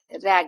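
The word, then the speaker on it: ragged: जैसे ये है रैग्ड, है ना, तो इसे हम रैग्ड नहीं पढ़ते, रैगिड।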